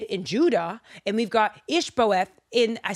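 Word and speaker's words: Ish-bosheth: We've got Team David and we've got Team IshBosheth.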